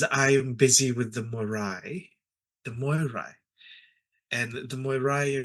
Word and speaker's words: Moirai: I, Silver Dime, create that thread length, and the Moirai decide when to cut. Can you spell that for me?